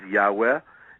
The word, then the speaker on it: Yahweh: in Judaism as Adonai pronounced in academic scholarship as Yahweh and and this was